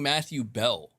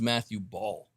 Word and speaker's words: Matthew Ball: He keeps saying Matthew Bell. I thought his name was Matthew Ball. Have I been saying it wrong this whole time? No, it is Ball. He has it in the title, Matthew Ball. So he keeps calling him Matthew Bell.